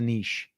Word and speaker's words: niche: think Jess is a niche I don't know um we we get a lot of flak on that I like Niche because it rhymes with Rich you know but that's